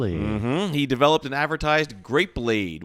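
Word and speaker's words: Grapelade: He developed and advertised Grape Blade, which rhymes with marmalade, from Concord grapes.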